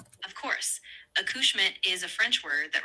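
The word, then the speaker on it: accouchement: Of course, aushmitt is a French word that refers to child birth or the act of giving birth.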